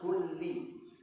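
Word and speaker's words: كلِّ: ada perbedaan gimana gimana bacanya kullu atau kulli kalau kullu salah kalau harakat apa namanya berbuah ee ganti harakat ini salah bukan boleh harus kulli ya harus harakat yang benar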